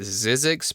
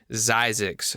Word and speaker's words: Zzyzx: Some people I saw call it Zzyzx, but if you listen to Doc, quote unquote, I will do air quotes, Doc Springer, he calls it Zzyzx. So that's the proper way to say it.